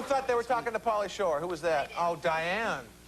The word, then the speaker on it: Pauly Shore: Third lady said, uh-oh, I got a date with Pauly Shook. Uh-oh. No, come on. Say it right. Uh-oh, got a date with Pauly Shore.